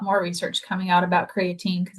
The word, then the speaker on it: creatine: The other question was if um is it pronounced creatine creatinine creatine improve uh